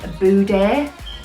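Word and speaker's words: bouder: It comes from the French word boudet. I googled it. I think that's how you say it. I'm from Liverpool, so I'd be like powder, which it absolutely is not.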